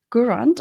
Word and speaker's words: Gourand: So, I'm delighted to have Janet Gurand. I hope I pronounced your name right, Janet.